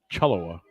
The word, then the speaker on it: Cholewa: He was able to find the post corner going to the right sideline to Cholewa. And they got it right here. Phonetically spelled for you. Ethan Chaloa.